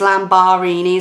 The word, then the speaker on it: Lambarini: have that as a youtube name but it is spelled differently so I've spell my name differently so it's lamb bahraini so raining side that is how I coming